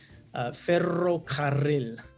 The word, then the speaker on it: ferrocarril: remember part of one, ferrocarril. Very that was my favorite one because you get to roll your R's in that one.